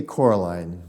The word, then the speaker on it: Coraline: a French word French name how do you pronounce it we say Coraline Coraline and it it began as a mistake